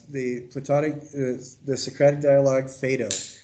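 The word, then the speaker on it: Phaedo: platonic the socratic dialogue fado and that's spelled p-h-a-e-d-o it's also pronounced fido if you go to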